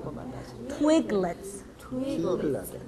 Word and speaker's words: Twiglets: twiglets. 트위글렛. 네, 맞아요. twiglets인데 붙여서 twiglets. 강세는 twigl에 들어가요. 트위글렛.